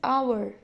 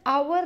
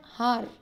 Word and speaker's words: hour: We pronounce this word as hour. We pronounce it as hour, not har.